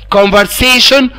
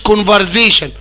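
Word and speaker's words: conversation: محادثة، وارجوكم يا جماعة حرف الاس ده بيتنطق اس يعني كونفرسيشن مش كونفرزيشن تمام.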